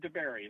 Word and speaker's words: Dabiere: This is Dabiere, right? That's how I'm pronouncing it right? Yep, Dabiere, like strawberry, but Dabiere.